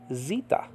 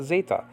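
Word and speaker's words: Ζήτα: Greek Vita okay and Zeta and modern Greek is called Zita okay Zita not Zeta the modern Greeks don't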